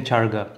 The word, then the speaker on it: charga: I kept pronouncing it chicken changa. I felt I was pronouncing it wrong, but yeah, it's chicken charga.